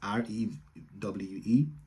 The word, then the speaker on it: Rewe: I think it's REWE, which is Rewe in Germany. W is a V.